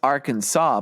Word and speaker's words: Arkansas: a question for you why ises it pronounce Arkansas but you take the AR the beginning and it just pronounced Kansas it what's going on